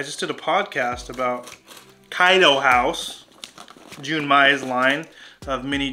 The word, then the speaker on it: Kaido House: i've been talking about cato house kaido house okay to hokkaido house however you pronounce it i am always saying it wrong kaido house is how you say it i i did